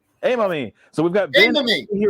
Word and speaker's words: Aymami: ben uh it been part of my my pronunciation of your last name uh say it for me if you would a mommy hey mommy so we've got vanilla here with us today i mommy that's what it is perfect all right so